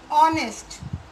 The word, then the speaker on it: honest: Honest, the H is silent here and we are stressing with O, vowel sound.